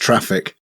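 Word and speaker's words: Traefik: So he suggested the Trafic. It's pronounced traffic.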